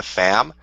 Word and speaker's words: Pham: it's a conspiracy because her name is Nina fam but it's spelled Pham like Pharmacy like she's a secret agent